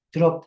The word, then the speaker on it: trop: dice, trop de mal, trop, con P, no se pronuncia la P, penar en demasía.